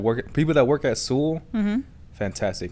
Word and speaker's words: Sewell: people that work at sewell fantastic now sew is s-e-w-e-l-l so see well but it's pronounced sewell okay very cool people nice